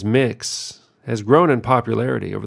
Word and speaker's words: Mx: that most of us grew up using for our teachers MX generally pronounced as mix has grown in popularity